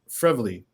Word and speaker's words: Frevele: Jamie is it pronounced frivoli yes perfect like Beverly So Jamie fredly's on